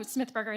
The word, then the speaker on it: Smithberger: how do you say your last name oh smithberger it's just a german one okay i lived